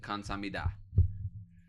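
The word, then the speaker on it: 감사합니다: Kamsahamnida.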